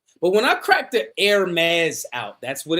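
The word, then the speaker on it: Hermès: But when I crack the Hermes out, that's what it's pronounced, guys.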